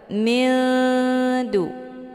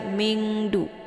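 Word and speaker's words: مِنْ دُونِ: Cara bacanya, nunnya disamarkan kemudian siap-siap menuju ke huruf dal. Mildu. Hukum bacaan ikhfa aqrab dibacanya juga sambil didengungkan. Namun kalau dibandingkan tingkat kesamaran dan dengungan, itu lebih ke samar. Mildu, ya. Jadi jangan dibaca mingdu ataupun mindu, jelas.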